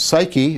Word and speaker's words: psyche: The next is the lodestone has suke, and this is important because this word suke, which we now pronounce psyche, is going to be the basis of the idea of psychology as a discipline.